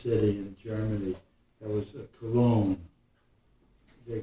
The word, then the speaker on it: Cologne: That was Cologne. They call it in the German Koln. We pronounce it Cologne, Cologne.